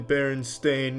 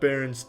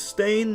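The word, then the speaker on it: Berenstain: it you silly Sailors it's always been Baron stain not Baron Ste Ste everyone every everyone every they all want to pronounce it Steen but it's stain ever since I was a kid they call me Steen it's stain though just by applying aam's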